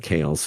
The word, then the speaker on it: Keel: trying to Google that that's othmar Keel that's how you would spell it so Mark Hale uh but it's oth Mar k-e-e-l um so symbolism of